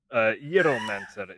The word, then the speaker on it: Gyromancer: Gyromancer is how that's pronounced.